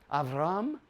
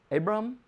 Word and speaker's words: Avram: father is that gorgeous remember avraham no avram abram how you say in english abram abram okay avram in hebrew it means of that